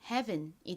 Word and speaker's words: heaven: H는 히읗 소리 나고 이중모음 EA는 긴 E, 에, 등의 소리가 나는데 이 단어에서는 에 소리로 쓰였습니다. 그리고 ven은 ven 소리 나죠? 연결하면 heaven이 됩니다.